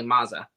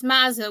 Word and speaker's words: Mazza: take my mom's maiden name which is obviously maza okay it's mazza we've been saying the wrong one no it's